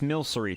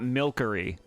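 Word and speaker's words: Milcery: It's Milery, chat. Good lord. It's not Milkery.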